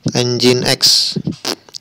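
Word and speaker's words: nginx: Apache kemudian disusul oleh njks atau nyingsir dibacanya NJMX tenjin X kemudian Iis sebanyak 10,8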